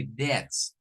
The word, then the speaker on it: debts: important to know this the Cor pronunciation is without the B it's like if you are going to make a pronunciation for this word in English you have to say something like that like this that but this is plural for that is where we are going to say Debs our Debs and for